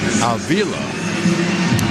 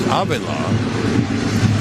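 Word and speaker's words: Avila: second baseman named Bobby alila that's the way it was pronounced in English actually it's pronounced abila because there's a private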